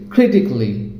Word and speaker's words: critically: Kelly, it should be cli, that means romantically, musically, logically, artistically, physically, critically.